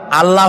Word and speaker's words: আল্লাহ: বলেন তো আল্লাহ নয় কিন্তু আল্লাহ হচ্ছে অশুদ্ধ শুদ্ধ হচ্ছে আল্লাহ বলার সময় মুখটা গোল হয়ে যাবে বলেন তো সবাই উচ্চারণ করেন আল্লাহ আবার বলেন আল্লাহ আবার বলেন